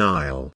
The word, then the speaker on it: aisle: who does which task I'll notice the silent s in Isle a Nile is an